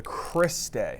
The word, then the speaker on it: cristae: mitochondria okay so what how do you say that it's called the Chris de so again here it